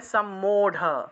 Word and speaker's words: सम्मूढ: কারণ সংস্কৃতে রকে ঢ উচ্চারণ করা হয়, আবার এই যে রটা আছে এটাকে ড উচ্চারণ করা হয়, ঠিক আছে?